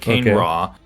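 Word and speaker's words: Kane-Ra: I've heard a couple of different pronunciations. I' I've heard Kane Raw. Um, I'm personally partial to Kane Ra. I think that sounds fun.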